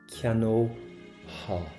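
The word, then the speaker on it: cheannófá: Now, we're not going to pronounce the F here. Cheanóha. Cheanóha. So we're going to get an O-ha sound.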